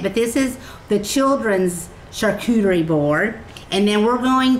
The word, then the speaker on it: charcuterie: Charcuterie, did I say it right? Yes. So, how do you say it, Opal? Charcuterie.